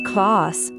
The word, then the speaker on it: квас: This is kvass, a special drink in Harbin, which is fermented with bred lactic acid bacteria. It originated in Russia and is pronounced Kvass.